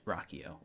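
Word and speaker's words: Ruocchio: by Christopher Rocko um now if I wasn't on book and I heard people say his last name that is not how I would pronounce it I would I don't even know how I'd try to pronounce that so I'm not even try but it is pronounced Rocko um so in this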